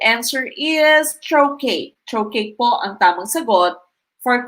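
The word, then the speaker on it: trochee: answer is letter a trocate paul letter a trokay it's not iambe is unstressed followed by stressed okay it should be stressed syllable followed by one unstressed syllable and so the correct answer is troche troche po antamon sagot for question 17.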